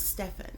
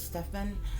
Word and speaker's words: Stephen: real quick overview uh I believe it's Stefan okay because this first name is spelled s-t-e-p-h-e-n so I believe it's Stefan um Laurel twitch boss